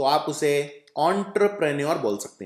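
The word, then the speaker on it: entrepreneur: उच्चारण भी डिफिकल्ट है कई लोग इसे एंटरप्रेन्योर बोलते हैं तो एंटर नहीं है ध्यान से देखिए नटर है तो आपको बोल है एंटरप्रेन्योर तो इसका उच्चारण इस तरह से किया जाता है एंटरप्रेन्योर मतलब जो नए-नए बिजनेस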